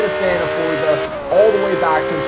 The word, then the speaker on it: Forza: lot of other people we grew up on you know Forza being Forza and not Forza you know the first time I heard that I'm like h no no no no no but you know that is the proper way to say it and you know to